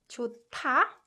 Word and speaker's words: 좋다: And when 히읗 받침 is combined with 디귿 consonant, it produces 트 sound. So 좋다, this verb is pronounced 좋다.